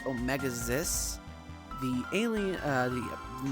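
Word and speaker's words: Omega-Xis: Although the website says it's pronounced Omegas, the alien uh the not the anime pronounces it Omegas.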